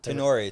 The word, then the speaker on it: Tenori: Like Tenori. Tenori. Yeah, Tenori.